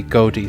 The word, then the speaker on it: Goetia: well like not ocean are pronounced this gota or goatee according to the readme file it's been anglicized to be goatee so I'm going to